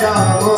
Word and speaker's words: राम: इसलिए राम को राम ही रहने दें, रामा ना बनाए।